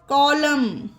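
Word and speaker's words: column: ध्यान रखनी है कि वर्ल्ड के लास्ट में एम के बाद एन हो तो वहां पर एन को साइलेंट करिएगा ओके ऑटम पढ़ा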